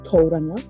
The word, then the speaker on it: Tauranga: i would say many locals kiwis they would use torana because this word is um originated from the tirio maori language so tario is very close to um a lot of